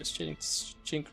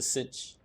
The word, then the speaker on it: cinch: How do I pronounce that word? A cinch? A cinch? A kinch? How to pronounce? Could be a chink. I can't pronounce this word. How to pronounce cinch? Is it cinch? It's a cinch. Alright, cinch. That's a better way.